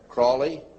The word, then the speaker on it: Crowley: learned about with aliser Crawley he likes to be have his name pronounced Crowley to rhyme with holy and uh the Satanist